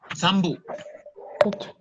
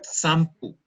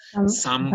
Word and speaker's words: sampu: Sambu. También se puede decir sampu. Pero nosotros aquí en Imbabura la P la pronunciamos como B en algunos casos. Entonces es sambo.